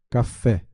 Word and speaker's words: café: Café tem acento tônico? Sim. E gráfico na última sílaba? Sim, correto, né? O fé aqui, né? Nós temos então a última sílaba pronunciada com força, café, e acentuada graficamente.